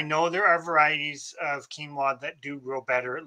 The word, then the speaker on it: quinoa: I think it's quinoa. Is that not how you pronounce it?